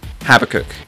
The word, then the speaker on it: Habakkuk: Habakkuk is how you say that.